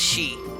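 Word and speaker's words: 四: can be pronounced as she it's like the same as saying death I think I remember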